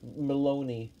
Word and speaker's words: Moloney: she's a research like Maloney like haha rhymes with baloney but seriously her surname